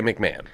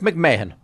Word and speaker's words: McMahon: And uh but here we would say McMahon. What what did you would say here in in America we would say McMahon. So you'd pronounce my name wrong because it's McMahon.